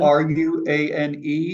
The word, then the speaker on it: Ruane: Is Billy Roon... I hope I don't mispronounce... That’s really rude. R-U-A-N-E...